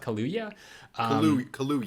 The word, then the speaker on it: Kaluuya: Kaluuya. Kaluuya. It's like Kahlua, but Kaluuya.